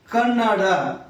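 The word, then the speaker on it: ಕನ್ನಡ: इसको कन्नड़ बोलते हैं कन्नड ड का अंत में उच्चारण में आप गौर करिए अ बोलते कन्नड अ बोलते हैं तो हमारे जो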